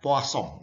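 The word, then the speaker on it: Poisson: namanya distribusi Poso ya ini orang Perancis ya Kang Perancis ditulisnya Poison dibacanya posong Hehehe sama dengan bebas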